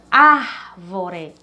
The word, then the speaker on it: árvore: A palavra árvore, árvore. Então, a sílaba ar, ela é a mais forte, certo?